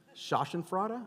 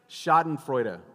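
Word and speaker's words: Schadenfreude: like when they trip shashan fra I think that's how you say it right did I say that right say it again shoten frea which is German for I like watching you fail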